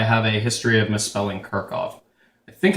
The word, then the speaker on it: Kirchhoff: could be wrong anyway I do know that it's pronounced like this like Kirk and then off at least that's how I've always learned it so please if I'm